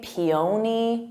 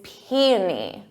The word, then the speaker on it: peony: When I see the spelling, I want to say peony, peony, but it's peony. Peony. So emphasis on that P, peony.